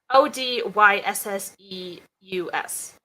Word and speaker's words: Odysseus: English is that how you pronounce it wait spell it o d y s s e u s Odysseus yeah yeah I feel languages for whom